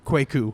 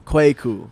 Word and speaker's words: Kweku: It's pronounced Kweku. Kweku.